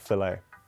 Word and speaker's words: fillet: Also, do Americans find it weird that we pronounce it fillet burger and not filet? Because I feel like you guys will find that weird.